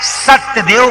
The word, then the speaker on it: सत्यदेव: शुद्ध उच्चारण है सत्यदेव का पूजन किया।